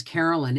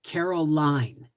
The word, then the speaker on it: Caroline: Her name was spelt with an E on the end. Line, Caroline, not Lin and not Lyn.